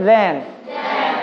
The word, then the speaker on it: then: Bukan ten tapi then. Lidahnya keluar kayak huruf sa tapi then.